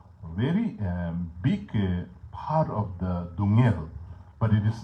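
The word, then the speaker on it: སྡུག་བསྔལ: covering the whole what in Tibetan what we want to say dukngel. Sort of like a duk, kind of like a what is the first syllable? Duk, like a dungel. There are two syllables, duk and ngel.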